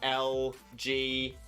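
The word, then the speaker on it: Elgyem: So LGM, the pre-evolution, when you pronounce it, it sounds like you're saying LGM, which is an acronym for Little Green Men or Aliens, and BEM is the same.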